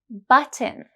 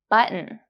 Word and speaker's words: button: syllable ending with N, it is swallowed and turns into a glottal T. Have a look at this word. In British English, it is pronounced button, button. But in American English, it's pronounced button, button.